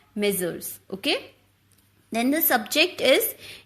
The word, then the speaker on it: Messrs: In place of the designation before the name of the company, you can write M/S or M/S, pronounced as Messrs.